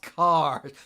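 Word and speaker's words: Kaahrj: flayer karge car guards how the hell do you say it's pronounced cars thanks flavor text oh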